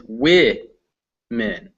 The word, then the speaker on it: women: So the first one is wo-men, and the next one is wi-men.